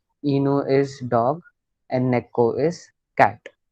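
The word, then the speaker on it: 猫: इट्स नॉट नेई, गलत। ने करेक्ट है, पर सेकंड कैरेक्टर क्या है। इट्स नॉट ई। नेको, करेक्ट।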